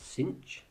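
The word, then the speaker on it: sinh: s and tangent um but these are Kosh cinch and tanch um so just as a quick pronunciation Kos seems fairly obvious the sign with the H on the end we tend to pronounce cinch and the tan with the H on the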